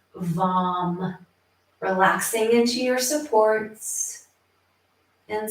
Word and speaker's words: VAM: The seed syllable here is VAM, V-A-M, VAM.